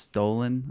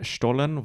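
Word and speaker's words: Stollen: It might be pronounced stolen.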